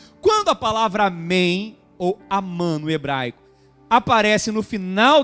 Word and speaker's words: Amém: verdade é Amém que em hebraico se pronuncia Amã interessante hebraico se pronuncia